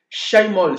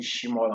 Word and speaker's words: Chymall: C'est ça, C-H-Y, qu'on va prononcer en anglais, c'est quoi? C'est Shai. En français, bon, j'en sais rien, chacun prononce comme il veut. Le plus important, c'est que on sait que c'est Shaimol, d'autres on dit Shimol en français, et ainsi de suite.